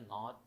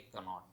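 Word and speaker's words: knot: अब यहाँ देखिए के साइलेंट है, इसके अंदर के नहीं पढ़ा जाएगा, तो उन्होंने इसको हाईलाइट कर दिया डार्क कलर के साथ। ठीक है, तो के को साइलेंट कर दिया, तो ये लफ्ज़ होता है नॉट, ना के कनॉट। तो नॉट लफ्ज़ होता है, तो के साइलेंट है इसमें।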